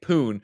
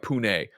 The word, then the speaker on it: Pune: Redeem Shawshank says the pronunciation, as I was saying, Poon, is more like Pune for the developer in Ubisoft.